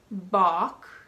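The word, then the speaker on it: balk: words with a silent L talk walk chalk Bach Bach isn't that common it means to hesitate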